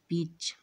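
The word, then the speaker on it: peach: ठीक उसी प्रकार यहाँ भी ई के बाद ए है, तो ए को नहीं पढ़ना, तब पी ई सी एच को पढ़ना है, तो इनका उच्चारण होता है पिच।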